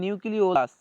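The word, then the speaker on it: nucleolus: তো ফ্রেন্ডস এই যে উচ্চারণ দুটো একটু মনে রাখবে, এটাকে বলা হয় নিউক্লিওলাস, নিউক্লিওলাস, এটা হবে ওলাস, নিউক্লিওলাস, এটা উচ্চারণ হবে এরকম। আর একটা হবে নিউক্লিয়াস, নিউক্লিয়াস অন্তস্থ একার দন্তস্ব, আর এটা হবে ও ল একা অন্তস্থ দন্তস্ব, সরি।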